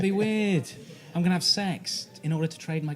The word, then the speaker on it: CeX: CEX pronounced it sex.